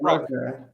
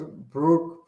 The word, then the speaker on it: Brock: Is it Brock? Yeah, like Brock. I must have heard it mispronounced. I thought it was Brooke Purdy. Oh, Brock. Like, I thought I had a U before the R.